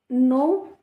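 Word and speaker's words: know: नो the following देखो यहां पर के साइलेंट है।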